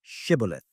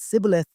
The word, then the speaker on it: Shibboleth: If he answered, "No," they would ask him to say Shibboleth. If he said Sibboleth, not being able to give the proper pronunciation, they would seize him and kill him at the fords of the Jordan.